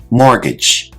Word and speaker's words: mortgage: Now, this word has a silent T, which I've highlighted in the word. Let's check our pronunciation. Mortgage.